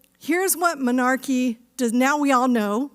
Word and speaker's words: menarche: And that word, including me, by the way, before I started this work, and that work is menarche. It's spelled M-E-N-A-R-C-H-E, menarche.